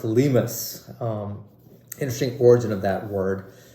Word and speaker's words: Limes: The brand is called Limes. Well, not exactly pronounced Limes. It's a German brand under the Ickler umbrella, the same people that make Archimede. A great bang for buck brand, pronounced Limes.